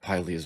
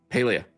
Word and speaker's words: Paleia: Yilt is in the inner chambers of of Pia's vault. Paleia Paleia's vault. I'm sorry I said it wrong.